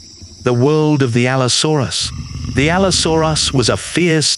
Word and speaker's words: Allosaurus: Allosaurus. The world of the Allosaurus.